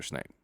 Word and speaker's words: Snape: I love finding out about Professor Snape.